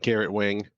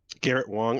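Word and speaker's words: Garrett Wang: what's his name um gosh berman didn't like garrett wing and the only reason that that's pretty much him long garrett wong okay well google has has a on it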